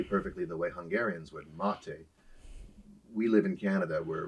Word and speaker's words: Maté: here on chatting with Candace I have Daniel mate joining me did I say that right mate yeah pretty much okay I'm everyone mispronounces my name all of the time too